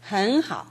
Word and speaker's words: 很好: 왜 그러냐면 H가 첫 음절인 경우에 그 앞에 발음이 N으로 끝나면 그 N이 NG로 되는 경향이 있습니다. 선생님 발음을 주의해서 들어보십시오. 헌하오 헌하오.